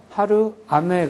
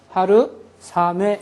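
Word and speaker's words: 春雨: 마찬가지로 봄하고 비가 합쳐져서 하루 아메 그래요 근데 하루 아메 하려면은 하루 아 하려니까 입이 힘들잖아요 하루 아 이렇게 되니까 그래서요 아 발음에 S 발음을 플러스 시켜서 하루 3에 이런 식으로 해 버려요 하루 3에 하루 3에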